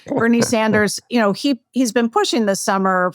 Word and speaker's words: Sanders: And Bernie Sanders, you say Saunders, which I'm sure he'd enjoy that pronunciation. Bernie Sanders, he's been pushing this